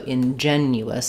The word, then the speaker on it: ingenuous: So, ingenuous. I'm just checking the spelling there. Um, they're both stressed on the second syllable. They both have the same in sound at the beginning. Unstressed I in.